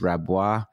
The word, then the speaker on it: Rabois: know i don't even how do you say his name raboys rabois right keith uh you know keith